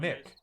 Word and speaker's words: Mick: He told me to call him Mick. He literally said, because I was like, "Is it Miki?" Because it's Meke. Yeah, And he's like, and somebody else said it's pronounced Mick, M-I-C-K.